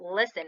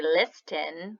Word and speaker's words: listen: a are clear not listen if you look at it there's a T in there we don't say liston we say listen so that T is silent alright so our story